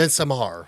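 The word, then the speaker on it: Midsommar: yes yes uh well or midmar how you well M that's how it's supposed to be pronounced uh yeah actually well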